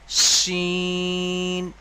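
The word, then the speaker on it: شين: আর এটা মোটাভাবে উচ্চারণ হবে শিন। যেমন গরুর শিং হয়, তো ঠিক ওই রকমভাবে শিং যেমন উচ্চারণ বলে যে গরুর শিং, ঠিক ওই রকমভাবেই উচ্চারণটা হবে শিন, তিন আলিফ পরিমাণ টান হবে।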